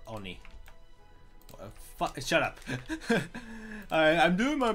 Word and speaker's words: Oni: like ticked off when people say Ani instead of Oni, because it's supposed to be pronounced Oni or if you want to be more like weeaboo, it's Oni. It's like Oni or something like that. Like, because it's based on the Japanese word oni or oni.